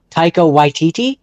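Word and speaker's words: Taika Waititi: I'm I'm just trying to think like if I was to let Tao White I can't pronounce his name. Tao Yiti.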